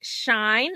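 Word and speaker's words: Shyne: program um and so she plays off the word shine it's spelled sh h y n e but it's a play off the word shy and I was like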